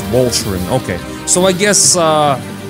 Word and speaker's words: Walcheren: get the better of the Germans also it's pronounced Voltron okay so I guess uh the Gallagher is